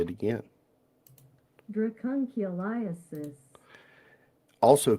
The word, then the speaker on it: Dracunculiasis: Dracunculiasis. You ready? Yeah. I'll say it again. Dracunculiasis.